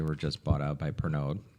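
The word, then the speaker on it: Pernod: Although, rumor has it they were just bought out by Pernog. So, Perno, I think it's pronounced.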